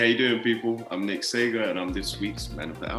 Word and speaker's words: Sagar: Sagar? It's actually pronounced two different ways. Sagar is how English people had been pronouncing English-speaking people, but it's of Indian origin and it's Saga.